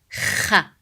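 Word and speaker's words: خ: Kha sound is pronounced from top throat. So it's the throat letter. It's not from the tongue, far tongue like ka sound. It's not ka, it's kha, kha, kha, deeper.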